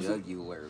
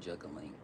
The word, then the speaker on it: jugular: You really trying to go for my juggler vein. I see that now. Okay. It's a jugular vein, not juggling vein.